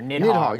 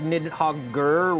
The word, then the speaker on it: Nidhogg: just came out here in the new year, Nidhogg. And we are now of one mind that this is Nidhogg in pronunciation.